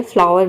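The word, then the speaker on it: flower: ई एक वोवेल है, इसलिए हम यहाँ पे OW को आउ प्रोनाउंस करेंगे, औ। जैसे कि देखिए यहाँ पे है औ, और ER का हो जाएगा अर। किसी भी वर्ड के लास्ट में अगर ER आता है तो इसको हम अर प्रोनाउंस करेंगे, अर।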